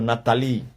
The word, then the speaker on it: Natália: E eles, Natália, leem, pronunciam Nathalie.